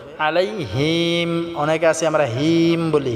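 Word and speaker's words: عليهم: আলাইহিম আলাইহিম আলাইহিম টা আমরা আইন টাকে গলায় চাপ দিয়ে উচ্চারণ করতে হবে আলাইহিম অনেকে আছে আমরা হিম বলি হিম হবে না আলাইহিম এখানে কোন টান করা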